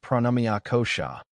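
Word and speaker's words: pranamaya kosha: Beyond the physical body exists a subtler layer known as pranamea kosha pronounced pranamia kosha which means the life force or energy body.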